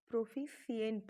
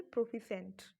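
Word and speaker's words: proficient: Next, प्रोफिशिएंट, ये इसका pronunciation देखिए, ये है प्रोफिशिएंट लिखा हुआ, लेकिन इसे हम प्रोनाउंशिएट करेंगे प्रोफिशेंट।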